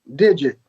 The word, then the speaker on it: Digit: the drums we had digit which he pronounced his name dig it so we had the